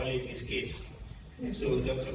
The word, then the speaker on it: Kase: A lot of people mispronounce the name. They say Kase, so but the way we call it is Kase. So Dr. Kase Lawal is the principal owner of Unity National Bank.